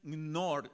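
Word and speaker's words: Knorr: los presidentes de ellos llamado Nathan Nord, así como el Nord Suisa, así como se escribe el eso que usted usa para sazonar la comida. Sí, ese fue su apellido, Nathan Nor.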